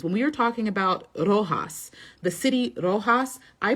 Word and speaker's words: Roxas: Miss Universe Philippines, when we were talking about Rojas, the city Rojas, I pronounced it as Roxas.